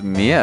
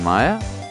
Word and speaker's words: Mia: Did I heard you pronounce Mia as Maya?